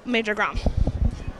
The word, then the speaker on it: Major Grom: Can you tell us a little bit about the origins of Major Grom?